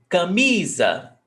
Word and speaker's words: camisa: Which one is sílaba tônica? Camisa. Me. Right? Yes, me. So camisa. Me is the stressed syllable. And here, how many syllables have we got? 3. Ca, mi, za. So this syllable right here is the stressed syllable, me.